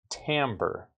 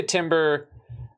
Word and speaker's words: timbre: Okay, the difference in sound is what we call tambber. Now, I know that this word looks like the title of a of a Kesha song, but it's actually tambber. It rhymes with amber.